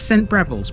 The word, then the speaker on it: St Briavels: Although it's spelt Briavels, this is St Briavels because it's named after a much travelled early Christian missionary, Briog, whose name also appears in places as far afield as Cornwall and Brittany.